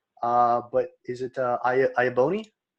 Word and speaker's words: Iaboni: me get that one wrong but is it i abou me correct all right awesome good to know all